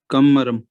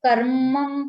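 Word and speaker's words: कर्मम्: कुशला कुशलम कर्म, सॉरी, कमरम, क्या है सर जी? कमरम, आई थिंक ये कर्मम पढ़ा जाएगा। आधा माह है, लेकिन ऊपर रा होता है तो रा पहले प्रोनाउंस होता है, कर्मम होगा।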